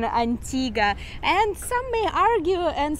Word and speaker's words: Antigua: you notice we said Antigua not Antigua there this is the local pronunciation Antigua and some may argue and say Antigua as in a Spanish